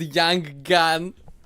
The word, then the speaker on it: Yang Gan: But if you pronounce it, it's called Yang Gan.